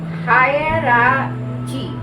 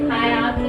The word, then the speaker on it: hierarchy: देखिए तुम प्रोनाउंस ठीक कर रही हो। हायरार्ची नहीं, मैं सही हायरार्ची। मैं सही प्रोनाउंस हायरार्ची से बनाओ। हायर हायर HI चलो मैं बताती हूँ। HIERARCHY हायरार्की मतलब लेवल्स वो होते हैं, एक के बाद